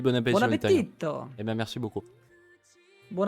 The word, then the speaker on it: appetito: dans la mesure où normalement l'accentuation sur la dernière syllabe, sur l'avant-dernière syllabe se fait surtout si on a 2 consonnes, sauf que appetito a un seul T et un seul T devant le I et devant le T.